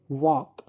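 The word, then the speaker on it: walk: Next वह है वॉक। पढ़े फिर से वॉक। इसमें डब्ल्यू ए और के तक हम पढ़ते हैं लेकिन एल नहीं पढ़ते। तो एल यहां पर साइलेंट लेटर रहेगा।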